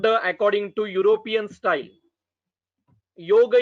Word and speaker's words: yoga: Yoga is yoga, not yoga.